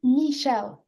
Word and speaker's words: Michèle: Is it Michelle or Michelle? It's Michèle. Michelle.